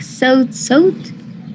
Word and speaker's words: sought: Sick, sought. Pero no es diptongo. ¿Qué acabo de decir? Yeah. Sick, sought. Es una O. No es O redondita como la nuestra, es más abajo.